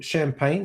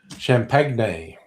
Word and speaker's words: champagne: Champagne. Yes. Champagne. That's no. The French insist that we pronounce it champagne.